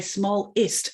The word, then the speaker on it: smallest: the rest of them, the vowels in the weaker syllables, we tend to reduce, and that's what schwa is, right?